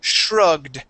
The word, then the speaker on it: shrugged: these okay this is Shrugged Shrugged shrug good much better okay try and give me a d at the end there okay Shrugged Shrugged good